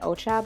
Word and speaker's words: Ochab: And everyone, this is Colleen Ochab. Am I pronouncing it correctly?